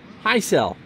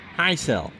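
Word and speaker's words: Hisle: I looked it up how do I pronounce that outfielder for Milwaukee high cell that's the baseball-reference pronunciation high cell and thanks for mark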